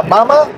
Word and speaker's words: Mama: Una forma sería, por ejemplo, decir a mamá y papá, que es como en español papá y mamá, pero sin acento. En español llevan acento al final, papá, mamá. En alemán sería mamá, papá.